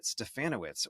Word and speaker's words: Stefanowicz: teaching and this week Our Guest is stefanowitz welcome awesome thank you sck perfect pronunciation too rhymes with ban banana witz yeah